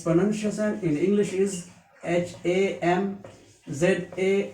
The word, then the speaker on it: hamza: that it is a light letter we will pronounce it lightly like ha ha this shape without any direct remark is called hamza it's panama in english is h a m z a h hamza it is also a light letter